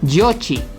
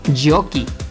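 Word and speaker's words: giochi: Cómo dirías juegos Pues si dijiste esto estarías diciendo yochi y no yokie por lo que al plural sería yo aquí para que suene Jockey un poco enredado verdad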